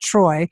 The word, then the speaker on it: Treu: It's JASONTREU, but pronounced Troy.